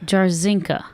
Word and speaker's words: Jarzinka: Jarzinka. Jarzinka, nailed it. But, like, there's no weird pronunciation of it? Well, that's funny. It's actually been Englishized already. It used to be Yajenka.